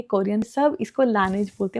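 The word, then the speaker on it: Laneige: ये मैंने अपनी फ्रेंड के लिए कुशन लिया है फेस पे लगाने वाला, ये ब्रांड लानेज का है। कोरिया में पता है इस ब्रांड को लाते हैं, कोरियन सब इसको लानेज बोलते हैं, मुझे लानेज की आदत है, बट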